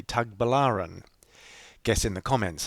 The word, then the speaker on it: Tagbilaran: I say Tagliban. I say Tagliban right through this video. It's actually Tag Balaran.